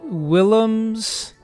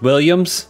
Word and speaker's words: Willems: elise willems present james willems it's actually pronounced williams sorry mr willems and